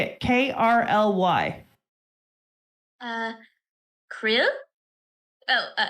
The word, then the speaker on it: KRLY: Krill? Oh, Carly.